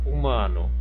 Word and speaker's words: humano: Qual que é a sílaba tônica aqui dessa palavra humano? Humano, humano. A sílaba tônica é qual? É o má. Não sei se vocês perceberam aí, ó. Humano. Né? O má aqui eu pronuncio com mais intensidade.